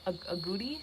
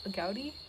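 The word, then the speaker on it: agouti: mammals i've seen i don't know how you pronounce it a goodie a gaudi a-g-o-u-t-i they i believe are related to probably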